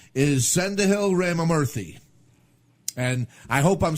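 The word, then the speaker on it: Sendhil Ramamurthy: bypass, his name is Sendahil Ramamurthy. And I hope I'm saying that right. I tried to look it up phonetically, but Sendil Ramamurthy, I think that's how the guy said it.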